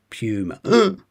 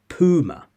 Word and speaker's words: puma: Same here, pew, you, puma. Game over. In American, it tends to be puma, uma instead. Puma, puma, puma in American.